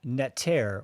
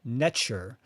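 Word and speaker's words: neter: which is called the egyptian netter or necher which is spelled n-e-t-e-r and in the egyptian language there was no vowel so it was just spelled in tr and this is where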